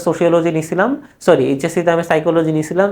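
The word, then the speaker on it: psyche: আচ্ছা, এই যে এই ওয়ার্ডটা তোমরা অনেকে ভুল উচ্চারণ করো, অনেকে সাইচি বলো বা এক একজন এক এক ভাবে বলো। এইটার ইংরেজি হলো উচ্চারণ কি? এটার উচ্চারণ হলো সাইকি।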